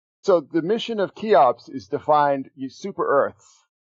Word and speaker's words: Cheops: Cheops. Yeah, the CH is Greek. It's a K sound. And that name actually does go back to Egypt, right? The Great Pyramid, yeah. Right. So the mission of Cheops is to find super Earths.